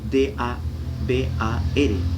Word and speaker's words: dabar: Se escribe D-A-B-A-R, dabar, y aparece en Primera de Reyes.